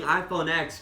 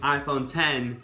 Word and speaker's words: iPhone X: Yes, I know you pronounce it the 10, but saying iPhone X just sounds so much better. Just think about me saying iPhone 10 rather than iPhone X.